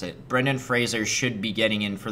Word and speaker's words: Fraser: actor they better nominate Baden Frazier for the whale actually it's Fraser he admitted that's how you pronounce it Brendan Fraser should be getting in